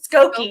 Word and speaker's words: Skokie: Skokie.